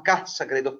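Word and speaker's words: Ca' Sagredo: Infatti, questa si chiama Ca Sagredo, Ca, non con l'accento ma con l'elisione, con l'apostrofo, è Casa Sagredo.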